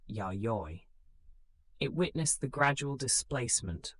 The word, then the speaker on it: Yayoi: This era is known as the Yayoi period, pronounced Yayoi.